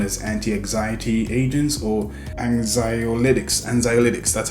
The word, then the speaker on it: anxiolytics: are medically known as anti-anxiety agents or anxiolytics anxiolytics that's how you say it now the reason